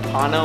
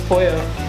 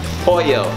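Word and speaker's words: pollo: And uh isn't it like pano or something? Oh, no. It's pouyo. Pooyo.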